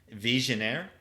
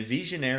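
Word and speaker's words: Vigenère: This is French. Visionnaire, I believe is how it's pronounced.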